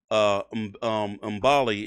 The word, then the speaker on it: Mbilli: I believe it's Mbilli is how you pronounce it.